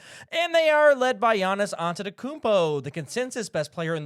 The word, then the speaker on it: Giannis Antetokounmpo: I'm not choosing Giannis Antetokounmpo. I'm choosing Joel Embiid. Oh. You guys like that pronunciation, by the way?